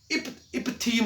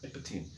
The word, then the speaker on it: epitheme: अब ये loosely packed है, इसको इपथीम बोलते हैं। क्या बोलते हैं इसको? इपथीम, EPITHEME स्पेलिंग देखा, इपथीम।